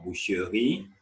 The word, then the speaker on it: boucherie: Boucher or boucherie, that is a butchery.